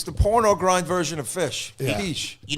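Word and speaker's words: Phish: Am I pronouncing it right? Fish concert in Virginia. Pish.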